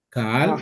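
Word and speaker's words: קהל: Es que se puede pronunciar con la K o con la Q.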